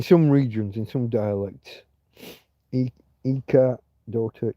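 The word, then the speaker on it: hija: Hika and Hi. No, you don't pronounce a ch in Hika. Ika and Iko.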